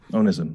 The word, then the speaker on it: onism: of your words which I believe is pronounced onism is am I pronouncing it correctly o n i yeah that's right onism yeah so this has nothing to do with